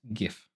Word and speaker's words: GIF: of hoer and the government made what it's pronounced GIF what are you saying G don't worry about